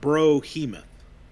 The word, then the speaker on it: Brohemoth: So they got the name wrong. Oh, they did? They got the name wrong. They didn't spell it right. It's Brohemoth. Ah. Yeah, that T doesn't need to be in there.